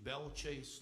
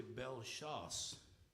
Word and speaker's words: Bellechasse: You know, like for instance, we say a mispronunciation, Belchase, Louisiana. Well, that's really Bellechasse, which means good hunting.